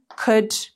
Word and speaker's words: could: all will you ሳይሆን l is silent okay would you could should ብለን ነው የምናነበው እንጂ l we don't read l would እና should እና could ጋር ማለት ነው ስለዚህ